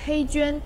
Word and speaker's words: HeyGen: 你那个发音是黑卷还是黑卷？这取决于使用的语言系统，但通常是黑娟。